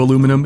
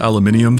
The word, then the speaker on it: aluminum: Before we actually go into aluminum, if you pronounce it aluminium, find the power button to the device you're watching this on and hold it down until your screen goes black.